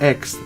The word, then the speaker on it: X: According to Elon Musk, on the Joe Rogan podcast, he responded to the question, how do you pronounce it, with, I mean, it's just X, the letter, X.